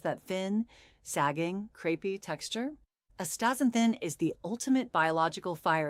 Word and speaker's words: astaxanthin: Excited, it is called astaxanthin, pronounced astaxanthin.